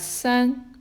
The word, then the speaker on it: 三: It's pronounced as san.